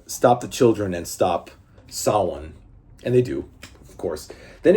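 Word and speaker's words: Samhain: The Druid, rather, the druidic deity known as Sawan, not Sam Hayne, by the way. It's it's spelled like Sam Hayne, but it's pronounced Sawan.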